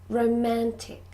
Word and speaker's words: romantic: resolve good number three romantic romantic can you hear where the stress is it's on the second syllable the middle syllable romantic good number four